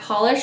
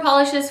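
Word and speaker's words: Pahlish: And I think that's why they do a sheer polish so that you layer it up and you can really see all that gorgeous holo.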